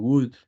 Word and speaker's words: would: Remember, this word should and would, you don't pronounce the letter L, right?